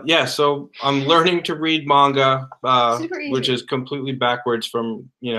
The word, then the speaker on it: manga: Yeah, so I'm learning to read manga, which is completely backwards from, No, you're saying it wrong. The way... Manga. Manga. Just like you say, not too wrong.